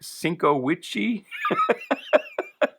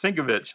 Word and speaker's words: Sienkiewicz: I never knew how to pronounce it as a kid. I was like Sienkiewicz. But I believe it's pronounced Sienkiewicz.